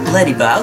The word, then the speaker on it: Ledyba: Ledyba, okay, I said it right. I said it correctly.